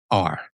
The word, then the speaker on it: Shorr: It is Shorr. Right. Not shore like the shoreline.